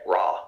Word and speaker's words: Raw: Okay, Raw, like the sun god Ra, but it's spelled R-A-W, like raw chicken.